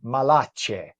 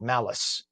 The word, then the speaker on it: Malache: Josephine Malache. Everyone pronounced it malice because it's m- a lac, but it's malache in Italian.